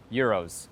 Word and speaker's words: gyros: showing up today and eating some gyros with me. That's how you pronounce it here in Greece.